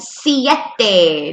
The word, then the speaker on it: siete: 6s seis seis 7s siete notice how I'm pronouncing all the vowels see yet day with their Spanish sounds 8s Oh Joe can